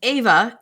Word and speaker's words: Eva: It's written in the book as Eva, pronounced Ava in the audiobook.